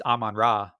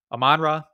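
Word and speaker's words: Amon-Ra: People are telling me it's Amon Ra. I keep calling him Amon Ra. I guess I'm putting the wrong emphasis on the wrong syllable. But Amon Ra, I'm saying it my way.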